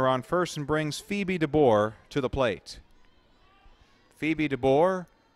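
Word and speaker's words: Dabbour: the Run run on First and brings Phoebe dbor to the plate Phoebe dbor not spelled like yours truly dbor it's spelled d a b b o u r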